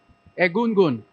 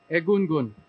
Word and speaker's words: Egungun: How it's pronounced? Egungon. Miss Silvera. Egungun. Egungun.